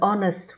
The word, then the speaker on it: honest: An is used if the noun following it starts with a silent H. Examples: an hour, an honest woman, an honor.